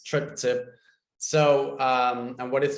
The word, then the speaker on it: Triptcip: of people have issues with that it's it's pronounced trip tip if you see the name it's trip tip so um and what is strip tip so